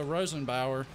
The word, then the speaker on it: Rosenbauer: right so this is a this is a Rosenbauer I believe is how you pronounce it firetruck it's got the spinner on